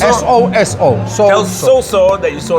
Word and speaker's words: Soso: Soso? S-O-S-O.